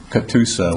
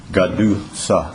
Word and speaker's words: Catoosa: Just driving here, Catoosa, which I'm told we've been mispronouncing all these years. It should be Gadusa.